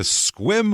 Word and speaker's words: Sequim: to we're going to squim Washington s squim now it's spelled s e q u i m so it looks like sake or squim but if you ever